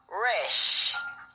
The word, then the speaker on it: Resh: the the the the our name is wresh it's spelled r e s h in some